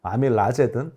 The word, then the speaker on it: 아밀라제: 그럼 왜 그러냐면 영어 발음은 아밀레이즈가 맞아요. 과거 교과서에는 아밀라제로도 나오거든요. 외국어를 우리말 음을 음역하다 보니까 생긴 거니까 아밀라제든 아밀레이즈든 영어 끝은 ASE로 끝나는 겁니다.